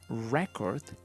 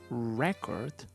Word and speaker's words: record: so the intonation changes if we are talking about a thing the intonation goes on the first syllable in this case record a record but if we talk about the action the intonation goes on the second syllable and we say to record to record for example